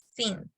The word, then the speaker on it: since: The pronunciation, since. Things. Because if you say science, you are saying ciencia.